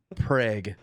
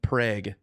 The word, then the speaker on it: Prague: small town in oklahoma and it's literally named preg and it's it's spelled just like prague but it's actually i was gonna say are you pronouncing that it's actually you know pronounced preg but it is spelled as if it's prague